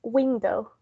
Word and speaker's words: window: Oh no, I think that it's in the first. It's in the first. It was in the first. It's window.